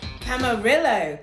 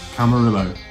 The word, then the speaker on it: Camarillo: So for this one, I'm going to go for camarillo, like amarillo, which I think means yellow in Spanish.